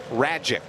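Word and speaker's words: Rajcic: Marlins facing Max Rajic. Rhymes with magic. Feels like he's lacking one vowel.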